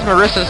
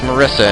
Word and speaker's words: Marisa: And why is Marisa's name pronounced Marissa and not Marisa? I didn't even think Japanese had a short I like that.